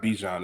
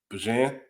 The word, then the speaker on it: Bijan: I think that for what they do in the run game, even before Dang, he just told us that we've been saying his name wrong. It's not Bijan, it's Bajan.